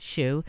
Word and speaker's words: Shiu: Sh I you so it is spelt it's pronounced shoe but it's shi yu t steward shoe calm